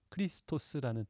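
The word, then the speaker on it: Χριστός: 이게 발음하면 크리스투스입니다. 앞에가 카이와 로가 있네요. 카이 크 발음이잖아요. 로, 리. 예. 그래서 크리스토스라는 발음이어서 그리스도의 처음 두 글자인 거죠.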